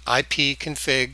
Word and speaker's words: ipconfig: Hit enter, pulls up the command line, and then we say ipconfig, and that's pronounced ipconfig for IP configuration utility.